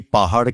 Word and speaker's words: পাহাড়: এখানে পাহাড় আমরা যদি পড়ে যাই, অনেকদিন থেকে আমার একটি পাহাড় কেনার শখ, তাহলে রটি উচ্চারিত হলো না এবং উচ্চারণটি ভুল হলো।